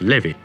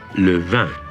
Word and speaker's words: Levin: I am very pleased that in France my name is pronounced not Levin, but Levin.